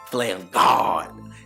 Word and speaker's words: FlamGawd: If it don't hurt your throat, you ain't saying it right. FlamGawd.